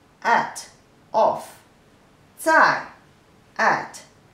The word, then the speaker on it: 在: The pronunciation is 自爱在, the fourth tone.